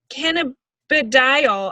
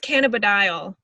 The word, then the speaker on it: cannabidiol: an hour ago but it's a really weird word but can a cannabidiol i think it's cannabidiol that's the cbd that